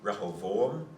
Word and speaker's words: Rehoboam: it doesn't really, in Hebrew it'd be Rehoboam and Jeroboam, So be, or Yerovoam.